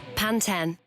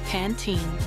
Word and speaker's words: Pantene: in this British ad panten now listen to this American ad you know it's Pantene Brits tend to say panten and Americans say Pantene sometimes it's hard to